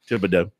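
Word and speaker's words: Thibodaux: Nichol State uh what Tibido Louisiana or Tibido as they pronounce down there yeah Tibido so congratulations to him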